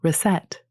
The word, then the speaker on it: recette: The French recette, which appears to be the original of our receipt, is pronounced like it, and yet all the French books have recipe instead.